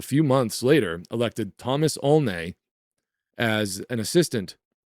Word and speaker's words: Olney: the Reverend Thomas Olney, or Olney, spelled O-L-N-E-Y. I'll pronounce it Olney.